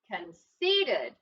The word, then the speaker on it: conceited: out bake Ron and this time the accents on the second syllable that word in his little parts ready con see Ted conceited somebody no conceded yeah